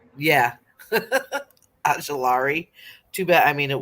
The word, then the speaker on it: Ojulari: Ojulari? Yeah. Ajulari.